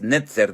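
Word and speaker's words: נצר: Lo que pasa que la palabra vástago no nos permite ver cómo se pronuncia en hebreo, que es netzer, de la cual viene Nazaret, Nazará, y entonces ahora sí encaja todo perfectamente.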